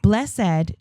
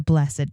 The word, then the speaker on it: blessed: Blessed two syllables is used as an adjective. The blessed mother, the a blessed day. Whereas blessed one syllable sounds like blessed is the past tense verb. He blessed the door.